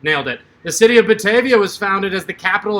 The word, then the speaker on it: Batavia: your 10 second hint still called this bad avia if you want to pronounce it wrong batavia if you want to pronounce it right three two one hold